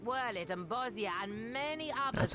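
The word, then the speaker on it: Bozja: Ere long, provinces like Wurlit and Bosnia and many others That's how will it's pronounced. regain their freedom. This whole time I thought it was Bosja.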